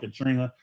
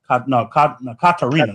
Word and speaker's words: Katarina: had 2 comebacks with Katrina. Katrina, I think, yeah. Katarina. There we go. Katarina. Katarina. That's it. I know I was saying it wrong, but no, but he,